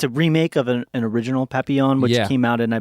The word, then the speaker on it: Papillon: And I always want to call it Papillon now. And I was calling it Papillon. Papillon? But it's pronounced Papillon. Papillon.